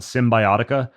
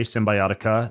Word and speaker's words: Cymbiotika: One's called Symbiotica. It's spelled with a K, Symbiotica.